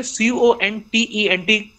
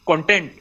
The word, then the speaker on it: content: book but when I say c-o-n-t-e-n-t content so it becomes satisfaction I am feeling contented I am feeling contented content and content content means satisfaction content means wishes so uh what I